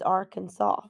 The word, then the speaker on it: Arkansas: how to renounce the state's name one said R can saw while the others said are Kansas in 1881 the state government passed a law declaring that the correct pronunciation is Arkansas they felt this was the best historic pronunciation